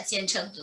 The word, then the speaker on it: Jian Cheng Du: Is that Jian Cheng Du? Please correct me. Do you want to reformulate your question in the light of what the discussion, or do you want to repose it? Jian Cheng, go ahead. So first of all, your pronunciation is perfect.